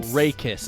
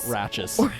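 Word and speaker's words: rachis: It kind of like you can Rakis is how you say it. Rakis? Not ratchus.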